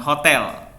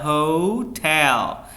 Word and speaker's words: hotel: Next, hotel, bukan hotel ya, hotel. Yang di stress di syllable yang keduanya, tell, itu yang ditekan suaranya, hotel.